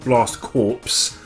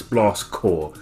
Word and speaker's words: Blast Corps: of this no it's blast core think of it as the Green Lantern Corps or an Army Corps a corpse is what